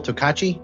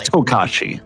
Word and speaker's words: Tokashi: I believe it was Admiral Tokachi. If I said that right? Let me double check, because you might be mispronouncing it. It'd be hard to pronounce. Yeah, it's Tokashi. It's Tokashi.